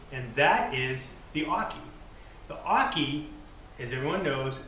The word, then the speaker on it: oche: it basically says that you pronounce the word hockey without the H and that makes it